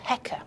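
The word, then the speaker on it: heqa: with two symbols and that's pronounced Hecker it means ruler and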